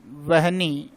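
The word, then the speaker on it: वह्नि: इसी प्रकार देखिए, ये आग का, ये भी बहुत बार पूछा जाता है वन्नी, लेकिन इसका सही उच्चारण क्या है? या तो इसको लिखो वहनी या फिर लिखो वह है के पैर में वहनी।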